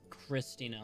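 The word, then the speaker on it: Kristina: Guys, Christina spelled with a K, I think. It's Christina, like Chris... K-R-I-S-T-I-N-A. It's Christina.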